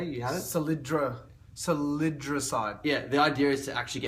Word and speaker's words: salidroside: Salidroside.